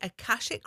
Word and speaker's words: Akashic: In your introduction, um, it says you have expertise in the akashic records.